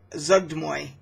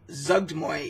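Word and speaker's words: Zuggtmoy: I did see, so like for an example, you have Zugdmoy, which I believe is the proper pronunciation for that deity.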